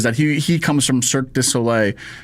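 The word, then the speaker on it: Cirque du Soleil: he he comes from Cirus Sole. It's a tough one. I I can never say it right. I always want to say circus so ole and not cirus sole and what you know what I mean.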